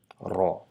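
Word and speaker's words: راء: So it's not R, it's ending in raw sound with a little bit of vibration, and also try to shape your mouth a little bit round. So try to produce the sound raw by a little bit vibrating the R along with your upper gums, and and try to round your mouth a little bit to produce the sound raw, raw, raw.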